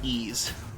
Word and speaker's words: Ys: Like one one franchise I will not get into is Ease. You know, the one that's spelled Y apostrophe S.